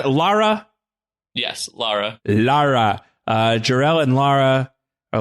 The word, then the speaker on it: Lara: So Jor-El and his wife, Lara, am I pronounce it Lara? Yes, Lara.